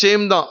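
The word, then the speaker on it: שם: ஷேம் அப்படின்னு சொல்லி பயன்படுத்தப்படுறாங்க, ரெண்டுமே ஷேம். அங்கேயும் ஷேம் தான், அதே எபிரேய உச்சரிப்பு ஷேம் தான்.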